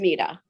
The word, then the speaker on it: Artemida: And the name of your company, pronounce that for me real quick too, so we know how we're pronouncing. Artemida. Artemida.